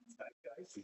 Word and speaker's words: zeitgeist: Fritz, that word zeitgeist, is that how you pronounce it? Zeitgeist. Zeitgeist. Yeah. Good.